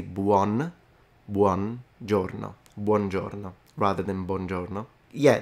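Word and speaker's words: buono: a little thing on top bno yeah not Bono it's true yeah I noticed that a lot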